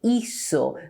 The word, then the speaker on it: hizo: If I write C here, I have to pronounce ico, but I do not do that. I say hizo. That's why we write Z here.